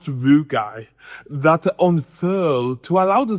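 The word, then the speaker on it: rugae: Yes, it's pronounced rugai that unfurl to allow the stomach to expand by up to 40 times its relaxed size.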